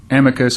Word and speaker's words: amicus: were discussions whether uh an amicus or Amicus brief depending on how you like to pronounce it which is a